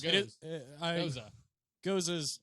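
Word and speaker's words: Gose: Goza. And it's a phenomenal little summer drink. Which is a sour. Yeah. Goes. You're Is it saying Goza words. Or It is, goes? Goza. Goza's traditional pronunciation.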